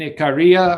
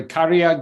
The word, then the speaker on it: Ikaria: And if you go over Okinawa, Japan, then you go to the Mediterranean, two places, Sardinia, Italy, and Ikaria or Ikaria, Greece. People pronounce it both ways.